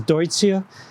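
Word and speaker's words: Deutzia: that uh you know duty is named for a german who would have pronounced his name deutsch so this is deutsche and there are some really low growing selections of deutsche granada like nico and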